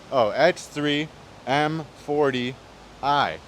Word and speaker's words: X3 M40i: So X3 M40i, that's how you say it.